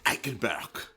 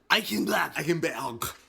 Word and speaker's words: Eichenberg: I think it's pronounced Eichenberg. Eichenberg. Yeah, you just got to be angry with it. Yeah, you got to guttural, and it's a guttural German thing. Get that German Eichenberg in there.